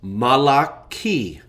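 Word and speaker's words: מלאכי: So a would be my god or malaki what we usually pronounce malachi means my angel or my messenger.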